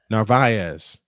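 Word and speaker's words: Narváez: to count someone one to Carlos Narvz.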